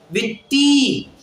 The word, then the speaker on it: वित्ति: वित्ति, त के ऊपर ई की बड़ी मात्रा है तो उसका उच्चारण भी बड़ा है।